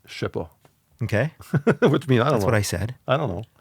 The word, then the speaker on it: CHERPA: it's so like one is it's spelled CHERPA. Okay. Okay, how would you pronounce that? Sherpa. Sherpa. Yeah. Okay, but in French it's Shepa, Okay.